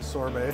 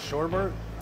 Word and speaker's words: sorbet: Is that how you say it? Sorbet? Sorbet, yeah. Is it? Yeah. It's not sherbet? No. Oh, okay. Sorbet. The Oh, sherbet okay. is spelled like sherbet.